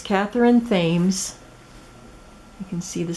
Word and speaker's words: Thames: I said I will link her it's Katherine Thames you can see the spelling there T ka th e ry n th a.m. es and she said it's pronounced Thames not Thames that's her YouTube and River City